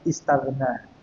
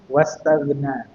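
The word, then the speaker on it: استغنى: wasal atau hamzah wasal kalau dia dibaca sendiri tanpa huruf atau kata sebelumnya itu bacanya istagna istagna. Tapi kalau ada kata sebelumnya maka dia tidak dibaca maka langsung wastagna. Wastagna.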